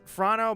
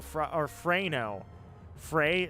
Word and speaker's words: Frano: It's Frano, but it's pronounced Fra-no. So Frano.